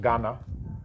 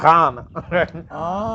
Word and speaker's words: Ghana: But the GH is a R sound.